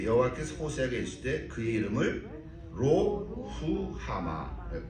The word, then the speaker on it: 로루하마: 고멜이 또 임신하여 딸을 낳으며 여호와께서 호세아에게 이르시되 그의 이름을 로후하마, 발음이 이렇게 돼요. 로후하마, 이렇게 로후하마라 하라.